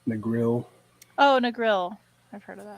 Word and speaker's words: Negril: vacation SP spots was in negro hopefully I'm pronouncing that correctly Negril Negril oh Negril I've heard of that yeah I